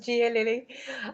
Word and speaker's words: Gia Lili: and i love the fact that you you pronounce my name correctly it is gia lilly and i am a life coach essentially to